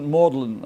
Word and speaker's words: Magdalen: Magdalen, or as they pronounce it, Magdalen, I think is the most beautiful tower in this whole collection of colleges.